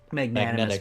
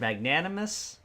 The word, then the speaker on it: magnanimous: Because he's such a magnanimous Magnetic man. He's such a magnetic man. How do you say that word? Magnanimous?